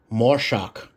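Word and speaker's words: מָשַׁח: look here you see the English phonetic pronunciation more shock and then after that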